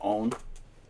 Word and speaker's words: Aune: that's this fella David owned it's spelled a-u-n-e but pronounced I believe own David own is a